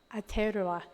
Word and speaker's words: Aotearoa: And his testimony is, the stories coming out of okay, maybe Lisa, you can help me with how we properly pronounce New Zealand. Aotearoa.